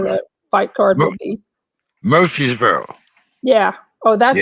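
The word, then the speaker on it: Murfreesboro: which is where the fight card will be murphysboro yeah oh that's how you pronounce it yeah yeah yeah someone that's been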